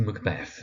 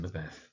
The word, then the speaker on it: Macbeth: So of course we have our protagonist, Macbeth, sometimes Macbeth, also valid.